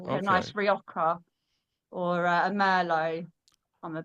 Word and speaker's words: Rioja: Rioco? What is that? That's not Rioja. It's Rioja. Riogjo, I think they spell it.